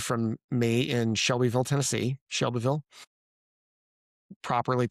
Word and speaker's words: Shelbyville: Shelbyville, properly pronounced.